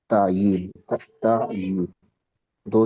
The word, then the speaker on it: تعین: یہ باب تفعیل سے۔ جی تعین کے لیے کیا تلفظ ہے اس کا؟ تعین، تعین دو یا ہے تفعیل کی طرح، تعین، جی تعین۔ جی